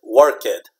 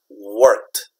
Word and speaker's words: worked: that this is pronounced worked worked okay it's almost like if it can make a word it's like that worked worked worked is one syllable okay one syllable yeah